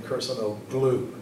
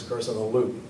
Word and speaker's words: Kurşunoğlu: that told me that you don't say the name personal glue do not pronounce the gym so he was a